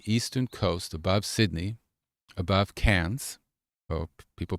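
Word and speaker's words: Cairns: So that's the eastern coast above Sydney above cans or people pronounce it KS c a i r ns but they pronounce it cans.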